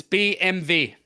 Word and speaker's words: BMW: Factory pretty much okay and it's BMV BMV BMV BMV no b b b b m v BMV yeah okay there you go yeah so that's one